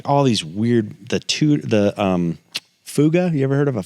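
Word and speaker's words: Fouga: CT 114, like all these weird, Fuga.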